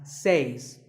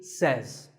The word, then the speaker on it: says: says this word is commonly mispronounced by people learning English as seis but remember I say you say but he or she says number three is etc a